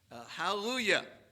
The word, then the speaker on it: hallelujah: Forget there's a J, just pronounce it like a Y.